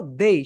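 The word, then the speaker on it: they: My dear students, আমি যদি তোমাকে বলি তুমি এটাকে কি বলে, তুমি যদি বলো দে, তাহলে তোমার পয়েন্ট জিরো হবে।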